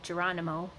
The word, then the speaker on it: Geronimo: So he's based on Geronimo, or Geronimo, as people know him. I use the Spanish pronunciation just because I'm used to that.